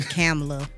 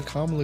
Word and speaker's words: Kamala: I just call her Kamala because it rhymes with Nala. Kamala, Nala.